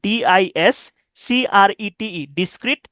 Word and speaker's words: discrete: ডিসক্রিট, দেখেন ডিসক্রিটের দুইটা শব্দ আছে, একটা হচ্ছে DISCRETE, ডিসক্রিট, আর একটা হচ্ছে DISCREET, ডিসক্রিট। দুইটার উচ্চারণ কিন্তু একই, কিন্তু অর্থ আলাদা। এই যে ডিসক্রিট, CRETE, এর অর্থ আলাদা, পৃথক, ভিন্ন ভিন্ন, সেপারেট।